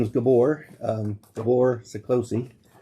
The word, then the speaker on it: Gabor: My name is Gabor, um Gabor Szakacsi. It's Hungarian. Would you like to spell that for me?